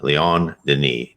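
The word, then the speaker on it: Léon Denis: Here's Leon Denis, Leon, Leon Denis, Denis, how it's pronounced.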